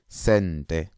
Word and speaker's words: sente: So 1 cent, we call it sente. Sente. Sente. Sente. It's 1 cent.